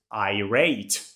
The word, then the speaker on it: irate: Another very good but more formal alternative to angry is I rate. Listen to the pronunciation. I rateate. I rate.